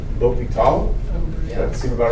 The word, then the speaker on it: l'hôpital: So I was told it's like l'hôpital. Does that seem about right? H is silent, so l'hôpital.